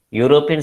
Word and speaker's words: European: sound that matters okay european starts with the consonant sound here it is represented